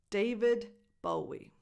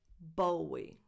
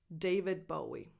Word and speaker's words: David Bowie: Number 2, David Bowie. David Bowie. Not Bowie. David Bowie.